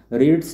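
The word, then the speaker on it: read: तो a book is रीड्स है यानी इसका वर्ब फाइव है। तो ये भी थ्री में चेंज होगा। तो रीड का क्या होता है? रेड होता है। स्पेलिंग सेम रहता है।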